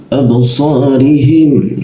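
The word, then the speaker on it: أبصارهم: Jadi cara membacanya adalah dipanjangkan digaktukan ya seperti itu absorim. Nah, perhatikan ada huruf ba mati. Ketika ada huruf ba dimatikan, maka hurufnya akan dipantulkan suaranya. Jadinya ab dikasih e ya.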